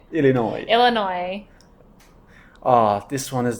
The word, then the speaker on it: Illinois: uh people is illino the S is silent Illinois Illinois Illinois ah this one